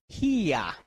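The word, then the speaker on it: here: হিয়া আমরা কি উচ্চারণ করব এখানে?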